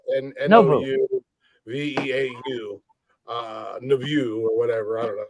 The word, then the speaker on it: Nouveau: Club Novu.